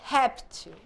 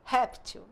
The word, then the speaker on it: réptil: é o plural de réptil Olha que ela são parox a penúltima sílaba é tônica réptil réptil então é paroxítona Como eu faço reptis